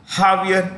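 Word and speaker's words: Javier: r million okay aier J is pronounced with an H in Spanish Brazil well Brazil is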